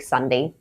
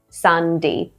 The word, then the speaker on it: Sunday: And just like every other day of the week, Sunday. Sunday. This is probably the easiest day of the week, I think, because it's basically pronounced the way it's spelled, whereas every other day is not.